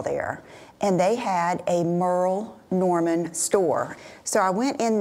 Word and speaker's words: Merle Norman: had a haul from let me say it right Merl Norman but I said Merl Norman and I had people